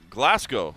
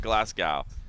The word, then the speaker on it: Glasgow: I was in Glasgow, Scotland for UFC Fight Night 72. I think I said that right. They told me I was saying it wrong. It's not Glasgow. It's Glasgow. Glasgow.